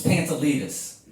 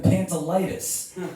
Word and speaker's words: Pantelides: It's Pantelides. You know how many times I heard a host come out and they write it, they're like, oh, Pantolitis.